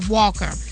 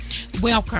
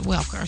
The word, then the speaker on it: Welker: Wayne and New England's Wes Walker Welker I'm sorry said his name wrong uh Wes Welker so uh just again here